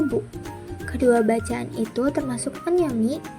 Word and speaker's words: 不: Kanci tersebut dibaca fu atau bu.